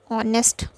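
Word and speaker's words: honest: हैं एन और, एन ऑनेस्ट मैन। तो देखिए ये यहाँ पे क्यों यूज़ किया गया है एन ऑनेस्ट मैन, क्योंकि ये यहाँ पे जो एच है वो साइलेंट रहेगा, ठीक है, तो इसीलिए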